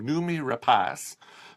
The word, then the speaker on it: Noomi Rapace: unlocked stars Noomi Rapace I had to look up how to pronounce her name is a Swedish name Noomi Rapace who people would know